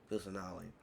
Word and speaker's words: Kusanali: Kusanali.